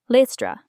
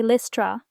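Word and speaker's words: Lystra: man who was lame listra some say listra others say Lyra both are correct lame use a long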